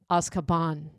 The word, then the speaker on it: Azkaban: we pronounce it Azkaban in the community.